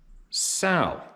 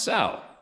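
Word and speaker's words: Saurino: Dear Steve, my name is Emma, last name pronounced Sal, as in a female pig, L-O-L. Really, your last name spelled S-A-U-R-I-N-O, pronounced Sal.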